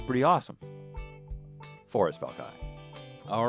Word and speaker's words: Valkai: Spell it all? Forrest with two R's and then V-A-L-K-A-I.